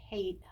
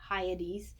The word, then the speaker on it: Hyades: Hadium beings is what they would be, but it's Hyades, Hyades.